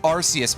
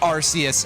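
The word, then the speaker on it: Arceus: even though we first heard it as being pronounced Arus anywhere in the world and not even to talk about like the fact that that's the Japanese pronunciation more or less but also because the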